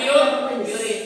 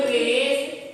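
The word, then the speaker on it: QRIS: kuris atau Kris krisurisisuris Kris yang benar Kris jangan kuris kalau kuris salah yang benar adalah Apa itu Kris bawa bawah sudah cerita belum yangis Oke ini bawah lagi apa itu Kris t bawah lagi tuh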